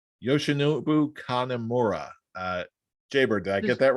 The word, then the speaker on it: Yoshinobu Kanemaru: We've got Swerve in Our Glory versus El Desperado and I hope I'm pronouncing this right, Yoshinobu Kanemaru.